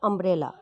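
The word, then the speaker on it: umbrella: अम्ब्रेला पढ़ रहे हैं तो यू बना है लेकिन यू का प्रोनाउंसिएशन नहीं आ रहा है, आ का प्रोनाउंसिएशन आ रहा है।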